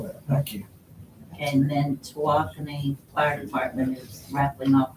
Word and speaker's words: Tawakoni: And I remember how to pronounce it, Tawakoni Circus is coming to town on November 10th, 11th, and 12th.